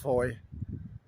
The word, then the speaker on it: Fowey: Pronounced Fowey. Spelled F-O-W-E-Y. Don't pronounce the wee.